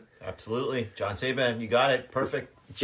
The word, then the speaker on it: Czeban: So, why don't I introduce my guest, John Saban, pronounced like Ray-Ban. Absolutely. John Saban, you got it.